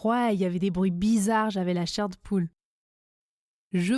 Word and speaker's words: la chair de poule: Enfin, la chair de poule se prononce la chair de poule. Je ne prononce pas le E du mot de.